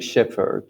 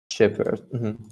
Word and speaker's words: shepherd: boy actually it's like shepherd right shepherd yeah i've never thought too much the what the h is silent yes that's what i